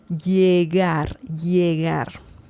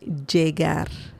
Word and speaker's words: llegar: The double L in Spanish can sound like the W in English, like llegar, right? Or it can sound more like a J, the English, the J sound in English.